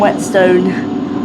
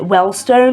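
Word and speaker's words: Whetstone: And wetstone. Toridge and wet stone. Yeah. I don't know why like every time I go to like pronounce it, I always seem to like pronounce it Wellstone.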